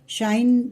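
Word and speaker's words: sinh: एच एक्स, मतलब ये इसका प्रोनाउंसिएशन जो होता है वो शाइन, मतलब अभी हम इसको साइन बोलते हैं, इसको साइन एक्स बोलेंगे, मतलब एच का प्रोनाउंसिएशन इसमें रहता है, तो इसमें एच भी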